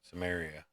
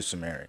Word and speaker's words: Samaria: Samaria.